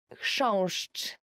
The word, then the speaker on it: chrząszcz: will ever learn in Polish, as for the pronunciation, is chrząszcz.